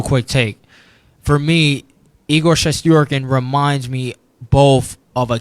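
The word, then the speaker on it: Shesterkin: islanders and you got igor chest yorkin not chess sturgeon chest yorkin that's how you really say his name and that's how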